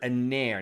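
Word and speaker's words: נר: is aner right so in english we might spell that n-e-r but it's a hebrew word aner now this can be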